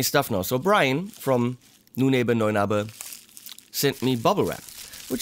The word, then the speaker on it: Neunaber: Neunaber, not Neunaber. Apparently they say Neunaber, but it's not a Neunaber, it's Neunaber, that's German.